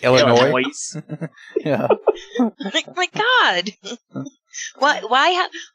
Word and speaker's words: Illinois: is a dinner like Illinois my god what why I have a letter that you're not going to say yeah like Collins that's